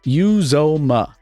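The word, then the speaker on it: Uzomah: yeah sorry it's cj who's your mama that's it that's correct use oma uzoma there you go come on man i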